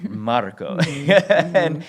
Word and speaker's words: Marco: I need to roll that R, Marco. and he's like, "Yes, that's how you say it."